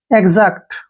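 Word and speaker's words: exact: सीटी इसको हम पढ़ेंगे एजेक्ट क्या पढ़ेंगे एजेक्ट ऐसे एजेक्ट तो यहां पर एक्स के बाद फिर से वावल आया है तो एक्स का उच्चारण ग ज करेंगे क्लियर जैसे नेक्स्ट वर्ड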